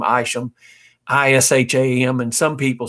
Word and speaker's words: Isham: people in following generations that use that name aisham i-s-h-a-m and some people spell it iso him isom seth isom so that